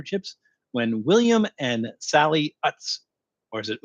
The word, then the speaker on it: Utz: what is the proper way to say that OOTS um that's why you can find them a